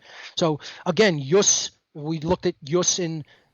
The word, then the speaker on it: ius: right usus justification again no J in classical Latin IUS but we would spell it J us J Yus Urus Yus means a